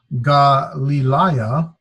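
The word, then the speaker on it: Γαλιλαία: This is Galilaya. It's pronounced with the Ga, Li, Li, So I got 1, 2, 3. There's a diphthong, alpha, iota, and 4 vowels. So there's 4 syllables.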